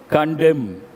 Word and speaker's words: condemn: Condemn. N is silent, part of speech verb.